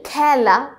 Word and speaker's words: খেলা: এবার দেশ নাকি খেলা আমরা জানি খেলা খ্যা উচ্চারণ হচ্ছে এটাই আমাদের বিবৃত